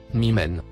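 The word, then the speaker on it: مِمَّنْ: faites allusion aux écritures le mot en surbrillance verte se prononce mymen il signifie de celui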